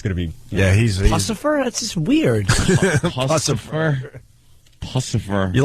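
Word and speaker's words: Puscifer: Instead of Lucifer, they put a P instead of the L. Pucifer?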